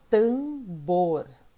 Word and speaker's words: tambor: Tambor. Tambor. O bor é a sílaba mais forte.